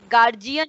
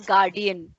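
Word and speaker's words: guardian: मैंने तो गार्जियन बोला, गार्जियन, बट आजकल जो प्रोनाउंसिएशन चल रहा है दैट इज गार्डियन, ठीक है? गार्डियन होता है, गार्ड होता है ना, गार्ड वर्ड सुना है? गार्ड से ही गार्डियन होता है, गार्डियन का मतलब होता है जो आपको गार्ड कर सके कहीं, ठीक है? तो the pronunciation, right pronunciation is गार्डियन.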